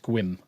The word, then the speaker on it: Sequim: except for Sequim um because there's an e in there where it's actually pronounced squim squim could do squirm